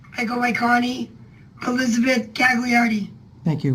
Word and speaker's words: Gagliardi: I go by Connie Elizabeth Gagliardi. Thank you. But the G is silent, so it would be like Gaiardi or something, but I was going to change my name.